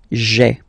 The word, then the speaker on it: j'ai: Okay, so just to avoid pronouncing this je ai, because we think that in French it doesn't sound that beautiful, so we tend to take this e away, okay, so that you get this sound j'ai, j'ai. Okay, so j apostrophe ai. Remember, when you combine this ai, you get the e sound.